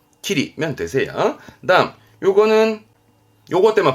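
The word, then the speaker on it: 霧: 키리, 키리면 되세요. 다음 요거는 요것 때문에 발음은 로, 길로자 때문에 길에 그죠?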